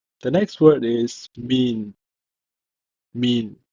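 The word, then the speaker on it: מִן: The next word is mean, mean, M-I-N, mean, because this letter is the final form of noon.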